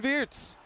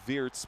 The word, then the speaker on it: Wirtz: Florian Wirtz with it, playing backwards. Now, of course, the actual German way to pronounce it would be Wirtz, but your English commentators would say Wirtz.